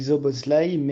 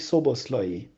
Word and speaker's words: Szoboszlai: d'abord tué presque parfait au niveau de la prononciation sauf qu'on ne dit pas dominique sopo slime et dominique ceaux bost loyer joël que pu tout nous apprendre sur dominique